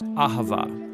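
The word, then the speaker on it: אהבה: languages as it is in ancient hebrew it's pronounced ahava it most basically refers to the kind of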